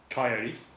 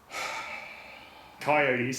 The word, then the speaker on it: coyote: Coyotes, not coyotes. COY. And do you know where the word coyote came from? Isn't it coyote? Coyote? Oh, no. It's because it's pronounced by redneck Americans. Okay. Coyote. Coyote. It's from coyotl, which is the Spanish word for that dog.